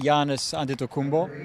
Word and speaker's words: Giannis Antetokounmpo: especially with the way that Giannis Antetokounmpo, that's how you pronounce it, Which I get wrong all the time.